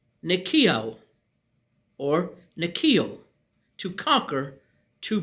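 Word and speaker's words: νικάω: As you see, original word written here, part of speech verb, pronounced nikio or nikio, to conquer, to prevail.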